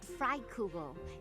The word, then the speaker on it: Freikugel: It's a magic axe called Freikugel. It's the hero's relic of House Goneril. Okay, so that's how you pronounce it.